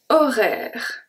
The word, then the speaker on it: horaire: Ni horaire, horaire. So the H is always silent in French, this is no exception. And the E at the end is also silent.